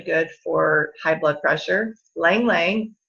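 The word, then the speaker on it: ylang-ylang: Lang Lang, it's spelled Y-L-A-N-G twice, is really good for high blood pressure.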